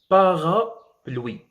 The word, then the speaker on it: parapluie: Vous voyez que tous les voyelles sont prononcées. E n'est pas prononcé parce qu'il vient à la fin du mot.